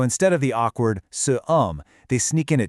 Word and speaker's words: homme: The word for man, "homme", is masculine, but it starts with a silent H that acts just like a vowel sound.